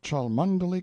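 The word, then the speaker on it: Cholmondeley: sellers vicount Berkeley of chundy Castle Warwickshire pronounced kbri Slover Marshbank sellers vicount Barkley of chumbley Castle workshire he is standing by a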